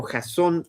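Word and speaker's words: Jasón: se estrenó en México Jazón y los Argonautas, que aquí está el nombre efectivamente con acento en la O.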